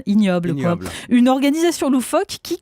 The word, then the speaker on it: Ig Nobel: Alors, à côté des prestigieux prix Nobel, il y a les IG Nobel. Vous prononcez Ig Nobel à l'anglaise, ignoble.